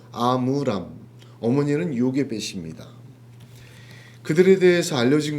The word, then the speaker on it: 아므람: 아브람이었던 발음하고 좀 비슷하죠. 아므람.